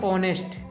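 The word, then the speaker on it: honest: silent letter बताना है silent letter व लेटर होता है जिसको पढ़ते नहीं है तो देखो जो लिखा तो हुआ है एच ओ एन ई एस टी लेकिन इसको हम पढ़ते हैं ऑनेस्ट इसको कभी नेस्ट नहीं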